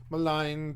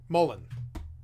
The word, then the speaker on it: Mullein: Malign, please. Nope. I need you to say it. Mullen. Like Peter Mullen. Like Peter Mullen Detectives Agency.